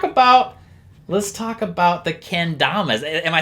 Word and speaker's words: kendama: so let's talk about let's talk about the kendamas am i saying it right the kendama yeah